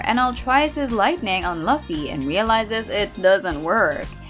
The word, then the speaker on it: Luffy: We know it's pronounced Luffy, but it's a meme video, so what did you guys expect?